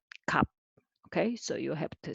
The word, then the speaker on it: 갚: And next one also kap, and this one is not kap, but kap.